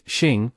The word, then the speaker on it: 生: The pronunciation of 生 is xing, which may pose a challenge for non-Chinese speakers due to its retroflex start. However, you can attempt to pronounce it by referencing the phrase she and fetus. Start with the first syllable of she and then transition smoothly into the first syllable of and. Once you've grasped the intermediary sound, shn, make any necessary adjustments to achieve the correct pronunciation.